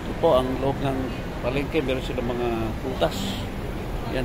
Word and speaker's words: Palenque: ako ngayon sa palengke no pronounce po ito as palengke no parang market so katabi po siya ng